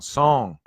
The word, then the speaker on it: Song: And it's pronounced woo, and the O in song is long, song, like in hope, woo song.